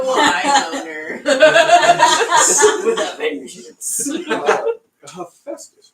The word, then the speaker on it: Hephaestus: Hepatitis. Hepatitis. Sorry. Hephaestus.